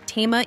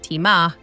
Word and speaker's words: Tema: We have Yuri Kojamirian, the Chief Investment Officer over there at TEMA ETFs. Marcos, it's pronounced TEMA ETFs, not TEMA.